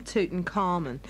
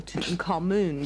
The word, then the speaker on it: Tutankhamun: Oh, yes, I've had a letter from Tutankhamun, or Tutankhamun, depending on how you'd like to pronounce it.